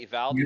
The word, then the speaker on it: Uvalde: Is that how you say it? Uvalde? Uvalde, like a U? Oh, Uvalde. Okay.